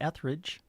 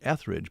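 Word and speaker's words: Etheridge: Melissa Ethridge. You say Ethridge, but you don't use the R. Yeah, I I I guess I don't I I guess I don't emphasize the second E there.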